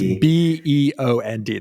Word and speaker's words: Beond: But you have to spell it without the Y. That's right. Yeah. For people listening, it's Beond.